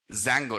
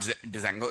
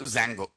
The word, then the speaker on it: Django: Django, not Django, Django. Okay, D is silent.